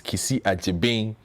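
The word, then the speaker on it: Kissi Agyebeng: being is a g y e so it's kisi achi bing uh for approval as special prosecutor so we'll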